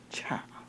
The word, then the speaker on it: Cha: Please introduce to you and to us, Cha. Hi. Like cha-cha-cha. It is like cha-cha-cha. I'm so glad you know how to pronounce my last name.